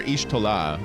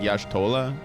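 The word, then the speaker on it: Y'shtola: I used to call her Ishtolah, but that ain't it. It's like Yashtolah. Yash Tollah.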